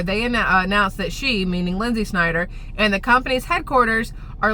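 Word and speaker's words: Lynsi Snyder: But that might change soon because, listen, Lindsay Snyder, L-Y-N-S-I, because heaven forbid you spell it the normal way, that's fine, whatever.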